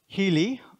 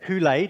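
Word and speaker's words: ὕλη: The word, well, hyli or hule, depending on how you learn to pronounce Greek, because of course you all did.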